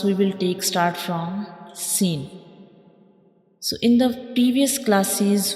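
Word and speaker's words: سين: When we read Sin, we will stretch it for 3 seconds, and when we pronounce Sin, the whistle sounds come because this is a whistle letter, like Sin.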